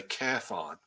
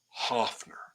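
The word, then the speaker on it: Höfner: that is I said yes that's a cathon he said no that's pronounced Hoffner I said well Paul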